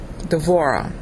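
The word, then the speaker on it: דְּבוֹרָה: going to start with Deborah d'vorah is really how you say it the word means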